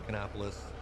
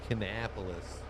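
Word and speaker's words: Kannapolis: there you go um there's like some NASCAR drivers from canopis that's how I know how to say that one otherwise I might have said Canapolis Bobby says it's something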